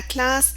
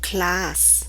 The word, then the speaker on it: classe: Lorsque tu ne mets qu'un seul S entre deux voyelles, celui-ci se prononcera comme un Z.